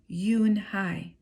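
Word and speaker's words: Unhei: turned to joey she nodded slowly yes it's pronounced yoon hai and it means grace mr kim added yoon hi joey said it slowly this time perfectly it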